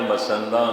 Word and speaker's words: मसंद: जिन्हां मसंदा की स्थापना गुरु अमरदास जी महाराज ने की थी। मसंद फारसी का लफ्ज़ है मसनद, उसका पंजाबी उच्चारण है मसंद।